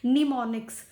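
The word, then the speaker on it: mnemonics: उनको कहते हैं निमोनिक्स, जिसमें एम साइलेंट होता है, निमोनिक्स।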